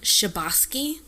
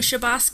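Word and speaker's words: Chbosky: I'm not mispronouncing but it sounds like shabos um it took him 5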